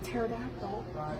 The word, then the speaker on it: pterodactyl: pterodactyl why is that the p is silent a pterodactyl why is that because